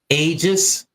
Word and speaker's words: Aegis: do you say that get that name again ages ages ages how do you spell it a e g i s that's your